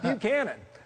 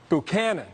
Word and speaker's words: Buchanan: And this is not Buchanan, okay? It's Buchanan, okay?